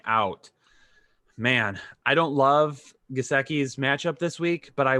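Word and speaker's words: Gesicki: I've heard it pronounced Gasecki and Gisecki kind of both ways. I got lit up in the chat. I got lit up in the comments this week for saying it wrong. So I'll say Gasecki moving forward.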